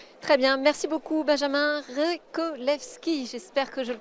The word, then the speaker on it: Revcolevschi: Très bien, merci beaucoup Benjamin Rekolewski. J'espère que je le prononce correctement.